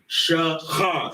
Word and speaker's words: Shakar: How you sound the word out. Shakar. Shakar. That's why we have two syllables, two connectors.